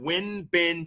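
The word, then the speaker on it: Won-Bin: win bin uh won he actually pronounces that win ben cho the 18 year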